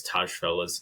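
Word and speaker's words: Tajfel: social identity Theory from I think it's Taj as is how you would pronounce it from from the 80s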